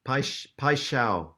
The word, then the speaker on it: Paixão: Like a pie, like steak pie, and shao like so, Paixão. but pai shao. I mean, Paixão. yeah, you have to ask a Brazilian to pronounce it properly, Right. but pai shao is the nearest that I've got to it. Because again, both these songs